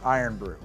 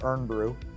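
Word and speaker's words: Irn-Bru: lot to me actually I still can't pronounce it iron Brew I mean I look at it in my brain says ear brew and um I guess it's iron brew and I'm sorry cyberp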